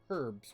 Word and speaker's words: herbs: And I'll say herbs because that's the British pronunciation, and we're all supposed to pronounce and spell things as if we were British.